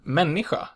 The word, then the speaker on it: människa: The word människa is pronounced with a back and is a unique anomaly that doesn't really fit any pattern.